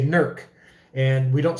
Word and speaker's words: Newark: called new work but they don't say newark they say nerc and we don't say